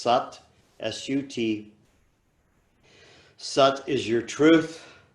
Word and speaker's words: Sat: it's really Sanskrit satnaam that you really say SOT and Nam it's vibrational mate really let it move through your your whole facial mask the saw or sucked it's spelled SAT but it's pronounced sucked SUT such is your truth nam is your